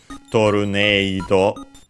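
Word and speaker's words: トルネード: As a reminder, usually E in Japanese, it's E, long E. Some still pronounce it as E. But, of course, in katakana, we would usually have the long vowel mark. So in this case, again, it's Torneido to mimic the A sound in English.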